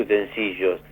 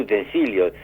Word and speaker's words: utensilios: y cuando vos Dee no se dice utensillos se dice utensilios y te responde Ay